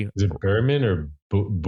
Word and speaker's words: Boorman: Is it Boorman or Boor- Boorman.